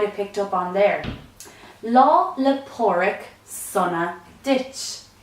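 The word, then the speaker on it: Lá 'le Pádraig sona duit: Patrick's Day some interesting things you might have picked up on their law Lepore ik sauna ditch is how you say happy st. Patrick's Day in Irish more time law Lepore ik summer ditch the full form of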